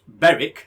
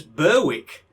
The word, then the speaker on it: Berwick: was he was english but he pronounced nesboro as nosborough oh dear and um beric as berwick so how english was